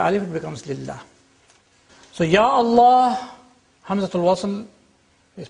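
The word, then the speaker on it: يا الله: It's ya Allah. Ya Allah. You don't say Allah. You have to say ya Allah. The alif is retained.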